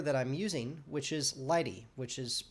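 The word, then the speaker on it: lighttpd: you the server that i'm using which is lighty which is pronounced lighty and it's really uh spelled l-i-g-h-t-t and it's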